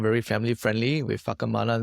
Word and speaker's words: Whakamana: To be very honest, I didn't know that the pronunciation was Whakamana until like 2 months in.